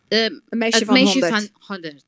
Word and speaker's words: Meisje van 100: How do you pronounce it? Meisjes with... Meisje van 100.